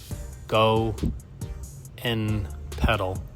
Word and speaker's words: GONPED: was GONPED, which they actually pronounce it Go N Pedal, so it's pronounced GONPED.